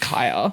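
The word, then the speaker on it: Khia: a Kia.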